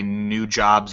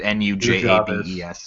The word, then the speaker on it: Nujabes: It's from a song called "Lovesick Part 4" by New Jobs or New Jabes or however you pronounce it. Nujabes.